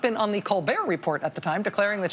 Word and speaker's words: Colbert Report: all it's not the colbert report it's the colbert report okay the t the t is silent like you were during